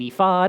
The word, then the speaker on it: ephod: It is an ephod, it is an ephod, I don't care. Put the emphasis in which syllable you would prefer.